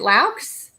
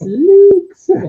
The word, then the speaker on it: Laux: Is it Laux? It is Laux. All right. I meant to ask you that beforehand, and I said, shit, I hope I don't say it wrong. No, you nailed it. Yeah, I was wondering. It's Luke's.